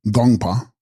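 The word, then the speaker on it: དགོངས་པ: Text, Gongspa, pronounced Gongpa, thoughts or mind, and being in the honorific form, divine mind.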